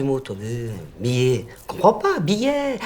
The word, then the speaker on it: billet: Comprends pas, billet. Avec un « et » ouvert, comme muguet, poulet.